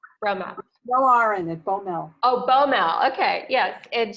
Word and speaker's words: Boumel: no from Matt Brehme well are in the Bommel oboe mal okay yeah and she's a contributor